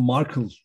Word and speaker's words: Markel: Aslında Markle deniyor telaffuzda. Ben Markellere Markel demeyi seviyorum.